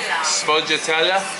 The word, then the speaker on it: sfogliatella: Pardon? No, sfogliatella.